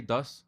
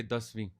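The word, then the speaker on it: ਦਸਵੀਂ: it says Pashahi, but in Punjabi it says Das. But we don't say das, we say dasvi.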